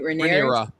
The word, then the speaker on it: Rhaenyra: Rhaenyra. Thank you. Rhaenyra. Welcome. How you're saying Rhaenyra's dad. And so Rhaenyra felt some kind of way about that. And then Allison getting mad because Rhaenyra had sex with Sir Cole, and finding out